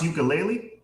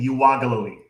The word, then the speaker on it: Yooka-Laylee: they'll be prepared ukulele it's pronounced yooka-laylee they were saying last year announcement was saying you wago louie i don't know if